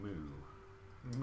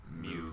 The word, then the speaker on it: Mu: Well, I believe you are planning to go to Moo. Ooh, the cow city. M-U. Mew, technically. I think it's Mew, the way you pronounce it.